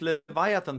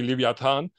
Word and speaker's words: Leviathan: I was thinking about how to pronounce Leviathan in English today, because in German you say Leviathan, and I never like thought how is it in English? It's Leviathan.